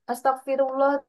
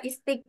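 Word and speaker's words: Astaghfirullah: tetap dibaca kasr Iya kenapa ini jadi gak dibaca istifi Oh ini biasanya bacanya gimana as astagfi Astagfirullah gitu ya kenapa gak bacanya istfi tapi malah bacanya Astagfirullah Apakah ini Hamzah wasal atau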